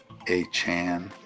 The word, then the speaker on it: Achane: Actually, I like Achane better, but I'll try to pronounce it the way it's supposed to. Achane.